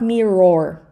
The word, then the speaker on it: mirror: And not mirror, okay? Mirror, mirror. And stress the first part.